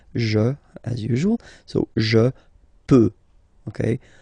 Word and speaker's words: peux: So the first form that we'll have is je, as usual, so je peux, okay? Final X not pronounced here, okay, so you get the X but you don't pronounce it, so basically you get